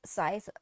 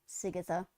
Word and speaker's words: Scythe: His name is pronounced Scythe, but I annoy him by calling Sigatha.